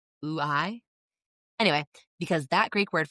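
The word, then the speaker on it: οὐαί: B, alas, because the Greek word for alas, sometimes transliterated as either O-U-A-I or A-I, but it's pronounced oo-I.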